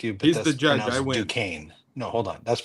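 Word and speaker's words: Duquesne: And it looks close closer than uh Also, just I want to I don't mean to correct you, but he's Dukane. No, hold on. That's pronounced D.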